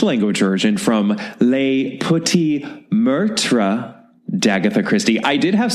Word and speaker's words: meurtre: And meurtre also has 2 syllables. It's meurtre.